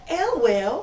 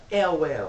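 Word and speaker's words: Ewell: Okay, on to Mayella Elwell. Well. Elwell. The E is silent, it's just Well.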